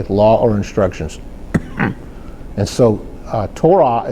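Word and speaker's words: תורה: And so Torah is spelled with a Tav, a Vav, and see that Vav has a holam above it. That gives it a O or U sound for the Tav letters,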